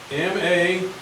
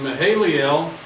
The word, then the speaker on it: Mahalalel: Spell, you got to spell that one. M-A-H-A-L-A-L-E-L.